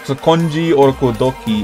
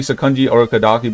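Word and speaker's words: Sakonji Urokodaki: important people in the demon circle, which is Sakonji Orokodoki. Okay, that's how you say his name. Sakonji Orokodoki. Okay, it's supposed to be Sakonji Orokodaki, but I'm just saying it in my way, because you know it sounds cleaner.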